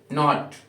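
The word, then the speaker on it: knit: ऐसे ही कुछ और स्पेलिंग्स है नाइट, नॉट, के एन ओ टी, नॉट means नॉट, निट, के एन आई टी, यहाँ पे के क्या है? साइलेंट है।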